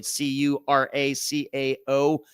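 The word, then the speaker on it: Curaçao: That's how you pronounce that word, by the way. Curacao. Curacao in the English language anyway.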